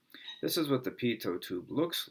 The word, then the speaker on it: pitot: This is pronounced a pitot tube, and they're used, I've seen these on everything from, here's an example of some spots where you'd see pitot tubes.